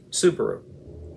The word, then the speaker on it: Subaru: Guess what the Pleiades in Japanese is pronounced as? Subaru.